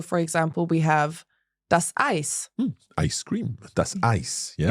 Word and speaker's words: Eis: But in German, EI always has that sound. Genau. EI is always pronounced I. So for example, we have das Eis.